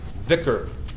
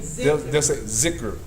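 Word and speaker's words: ذكر: So instead of saying like some people, this dhal is the same letter that's used for the word dhikr. Dhikr. Some other dialects they'll say zikr.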